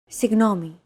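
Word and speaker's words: συγγνώμη: romanized like this signomi this character isn't pronounced using an English G sound at all who it's like a very soft continuous and loosely held G almost as if you're gargling but don't make it sound too throaty who there's no such sound in English but most people would transcribe this using the letter G because that's the closest equivalent in English pronouncing it like an English G however would be a huge mistake to get that sound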